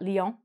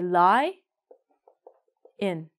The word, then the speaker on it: lion: Do you eat lion? Not lion. It should be. Look at lion. Oh no, in English. No. No, I'm sorry. We say lie in.